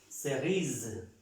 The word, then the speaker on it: cerise: Entonces lo que aprendemos aquí es que cuando está en este caso esta E y esa S al final, pues no se pronuncian, las eliminamos y como esta S está en medio de estas dos vocales, se le da el sonido del zumbido, zzz, zzz, cerise.